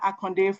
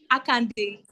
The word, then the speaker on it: Akande: Actually, I am not Akonde. It's just the same spelling with Yoruba. Yeah, I just have the same spelling. Okay, Yeah, How do you say it? it's pronounced as Akande.